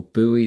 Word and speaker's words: buoy: looks like this is going to buoy the market, or buoy the market, as Americans say.